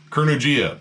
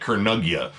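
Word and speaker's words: Kurnugia: __ ] awesome album now i've been saying this band's name wrong forever kurnujia that's how you say it i was calling it karnagia which in hindsight sounds stupid it's not quite like the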